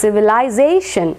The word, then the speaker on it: civilization: marking will be here the stress will be on the second last or on the pen ultimate syllable so it is civilization civilization Z is given